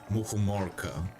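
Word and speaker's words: мухоморка: Muhumorka is how you pronounce it.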